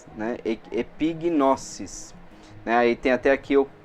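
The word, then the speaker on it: ἐπίγνωσις: Então epignosis, né? Epignosis. Aí tem até aqui, eu coloquei a pronúncia, tipo pi fica mais forte, né? Epignosis. E lembrando que o S no grego não tem som de Z, tá?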